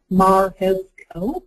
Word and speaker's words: Marhevko: The last name is pronounced just like it's spelled, Marhevko, and it means carrot in Polish.